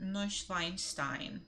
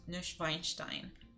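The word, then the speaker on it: Neuschwanstein: an horror film the tourists have to see neuschweinstein excuse me Castle this is way too many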